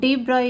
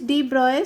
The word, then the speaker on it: de Broglie: On the same concept, the de Broglie, the pronunciation is de Broglie. Some of the you can pronounce it de Broglie, but actual pronunciation is de Broglie.